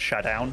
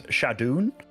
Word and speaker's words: ShaDoWn: pronunciation but I remember I always called shadown like uh shadown but then apparently it's shadon shadon did you I